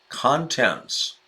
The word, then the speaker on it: contents: of his Halloween bags now look at that pronunciation shift everybody Randy is content comfortable at ease he's content content but then just two lines lower contents yeah the accent shifts when we have contents Marla looked at ease